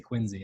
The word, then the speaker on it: Quincy: Even though it's spelled Quincy, I'm supposed to say Quincy.